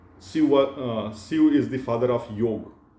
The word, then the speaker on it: Shiv: In English, it becomes Shiva.